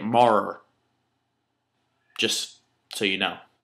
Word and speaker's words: Maurer: And that's how you say it, Marr.